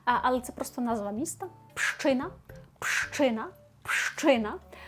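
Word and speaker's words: Pszczyna: Так, ми маємо п на початку, а далі маємо аж4 приголосних ш, ч, так, зцз ина. Буде простіше, але оце от на початку пш воно для нас виглядає прям дуже складно. Але пам'ятаємо пщина, тому що ш читаємо як щ. Ми вже сьогодні навіть про це говорили. І просто уявіть, що там одна буква щ.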